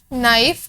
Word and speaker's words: knife: नाइफ, KNIFE, नाइफ, के silent sound है तो नाइफ, एन से स्टार्ट हो रहा है, एन कॉन्सोनेंट है।